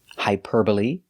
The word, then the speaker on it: hyperbole: they're very special because they end with e but the e is not silent we pronounce them all the same with a long e like green beans hyperbole vigilante and epitome thanks for watching and